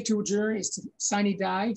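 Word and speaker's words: sine die: a jury is to sign a die sometimes pronounced cna da which means without day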